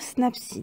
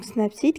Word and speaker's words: Snapseed: en haut d'un recherché pour cliquer et écrire snapsy dedans snap site qui s'écrit s n a pu s e e